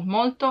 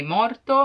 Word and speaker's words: molto: to use tanto because if you cannot pronounce molto in a perfect way you may be misunderstood and if you say morto it means dead so yeah molto or